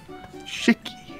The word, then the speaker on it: Shiki: Like Hickey, but with an S in front. How do you spell it? Shickey.